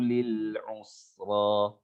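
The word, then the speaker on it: لِلْيُسْرَىٰ: Ini nggak ada sama dengan ayat yang sebelumnya, cuman yang harus diperhatikan huruf ro ya. Huruf ro ini pergerakan lidah kita hanya boleh sekali getar saja.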